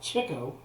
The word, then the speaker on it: Chico: makes music harpo is silent chico which could pronounce called chicco is basically what it sort of implies uh